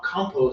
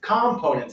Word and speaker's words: components: And he was saying this word, and it's like, that's not how you say it. Compose or something. He was talking about Components. Components, that's right. Not a component, but components. Components.